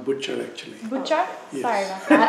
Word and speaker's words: Bhuchar: Bhuchar for the Houston Asian American Archive. So my name is pronounced Bhuchar, actually.